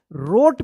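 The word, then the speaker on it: wrote: डब्ल्यू आर ओ टी ई आर से पहले अगर डब्ल्यू आता है तो क्या होता है? डब्ल्यू साइलेंट रहता है।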